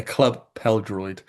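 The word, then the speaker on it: Clwb Pêl-Droed: It's pronounced a club Pêl-Droed.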